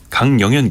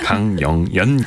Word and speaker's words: 강영연: 강영현 기자. 성함이 어려워. 항상 신경을 쓰는데 이응 발음이 너무 많죠. 예. 강영연 기자.